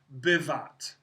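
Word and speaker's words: בת: of examples so uh the word bot which is the word daughter one of your vocab words is spelled this way bait pav and again bat so I put a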